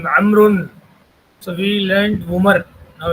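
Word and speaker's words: عمرو: The proper name Amrun. So we learned Umar. Now it is Amrun. It is written with a vav, which is not pronounced.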